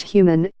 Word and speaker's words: HVMN: HVMN, pronounced human, is a startup that encourages smart fasting.